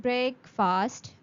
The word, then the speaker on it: breakfast: The next word of today is breakfast. Breakfast. You are not going to say it break fast or anything like that.